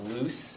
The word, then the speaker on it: loose: sort another thing is when you think about loose think about like the words Goose um Goose the word Goose g o o s e spelled the same way and has the same sound and house also you